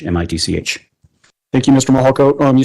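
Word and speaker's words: Mihalko: My name is Mitch Mahalo.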